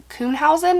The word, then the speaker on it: Kuhnhausen: is a woman named susan kunhausen i believe is how you say the last name um susan had